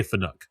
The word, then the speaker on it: Fanuc: It's always going to be Fanic to me. I'm never going to say Fanuc.